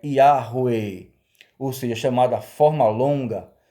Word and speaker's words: Yahweh: Interpolaram as vogais de Hashem com o tetagrama, formando a pronúncia chamada forma longa Yahweh. Infelizmente, começaram a pronunciar esse nome errado. Começaram a pronunciar esse nome como Iavé. Ou, tempos depois, acrescentando o J, Javé.